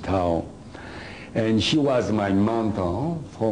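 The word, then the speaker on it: Thio: Now, to be easier for the lecture, her name is Tao. Got a problem already. T-H-I-O, Tao. That's her name. You can pronounce whatever you want, but I pronounce it Tao.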